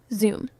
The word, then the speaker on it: Xumm: For XRP, one of the most popular is Xumm, pronounced Xumm, a mobile wallet built specifically for XRP Ledger.